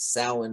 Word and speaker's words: Samhain: Like I always thought it was pronounced Samhain as well, and Yeah, it is pronounced Samhain.